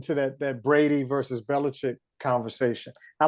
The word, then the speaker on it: Belichick: that that Brady versus Belichick conversation I like to say Bella chick because it's spelled chick everybody says check but I like to say chick anyway they're one and